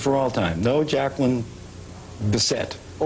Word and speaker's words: Bisset: How do you say your name? Bisset. It is Bisset. Yes. This is for all time. No, Jacqueline. Beset or bisay.